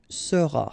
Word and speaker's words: seras: Then tu seras, final S not pronounced, tu seras.